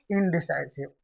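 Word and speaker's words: indecisive: इसको उच्चारण पे ध्यान देना है। क्या बोलते हैं इसको? इनडिसाइसिव। आई एन डी ई सी आई एस आई डी ई इनसेसिव मतलब जो डिसीजन नहीं ले पाता हो।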